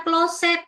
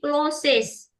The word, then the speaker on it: closest: Jadi itu bukan closet tapi closes.